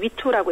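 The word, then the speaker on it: 玉兔: 이 옥토끼호는 이제 중국어로는 위투라고 읽히는데 태양 에너지로 작동한다고 합니다.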